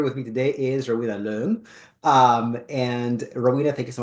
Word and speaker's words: Leung: Yes, is that how I pronounce it correct? Yes, Yes, I mean Rowena Leung, but Leung. Yes. Leung, yeah, it's all good.